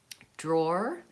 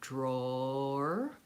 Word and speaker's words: drawer: So we have to kind of move from DR, the blend, into the O diphthong.